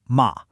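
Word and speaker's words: 妈: Let's take the classic example, the syllable ma. With that high flat tone, ma, it means mother.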